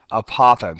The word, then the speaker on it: apothem: that length is called a very strange word it's called an apoem apothem so it's spelled a p o t h m and so the basic